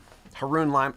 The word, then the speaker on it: Haroun: or heroin business school some people mispronounced my last name Haroon rhymes with baboon now you'll never forget